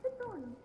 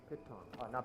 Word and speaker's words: piton: A piton. Python. Not Python. I thought it was. I don't know why I pronounced it as Python.